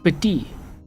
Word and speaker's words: petit: Second T is not pronounced. Petit.